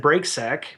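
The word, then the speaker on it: Brake: my last name is spelled b r a k e like break like on a car so you misspelled your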